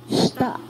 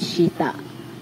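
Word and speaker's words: した: Shita. Pagka-pronounce niyaan, hindi shita. Shita. Yung pabigla yung pagbigkas. Shita.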